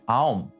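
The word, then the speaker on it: Aum: En fait, il s'avère qu'il est plus correct de le prononcer Aom au lieu de Om, car il se compose de trois sons - A, O et Um.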